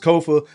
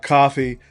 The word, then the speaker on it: Kofa: I am your humble host, Kofa, K-O-F-A, not coffee, not, not Kofi, or any variation thereof. Kofa rhymes with sofa, easy to say, easy to spell.